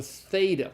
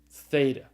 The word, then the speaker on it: theta: is the first Ilham this is the theta it's the th sound like in the English word thing alright alright